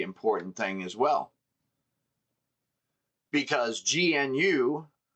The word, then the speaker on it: GNU: Because G N U pronounced GNU like the animal is a uh public software license.